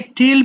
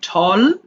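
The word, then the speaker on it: tall: তোমাদের এইযে এটা দেখ এটা অনেকে টেল পড়ে ফেলো। হ্যাঁ। এটা হবে ঠল।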